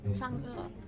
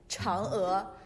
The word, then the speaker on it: Chang'e: Chang'e. It's Chang'e 4. Chang'e.